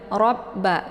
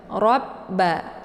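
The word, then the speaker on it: رَبَّ: ujung lidahnya ke langit robba karena ada tasydid di banyak yaitu ditekan dulu roanya kemudian leburkan suaranya ke ba robba ya posisi roa ini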